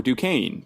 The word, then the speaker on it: Duquesne: those happy places and I'm at buddy underscore Duquesne Duquesne is spelled d-u-q-u-e-s-n-e and if you're a fan of